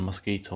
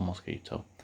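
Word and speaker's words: Mosquitto: On either Raspberry Pi OS or Ubuntu, Mosquito can be installed by running the command apt-get install Mosquito. Note that it's spelled with 2 T's.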